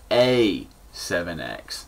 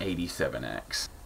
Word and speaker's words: A7X: Oh yeah, and to get this straight, my name is A7X, not 87X.